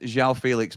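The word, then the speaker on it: João Félix: Mory, it's pronounced Xiao Felix, mate.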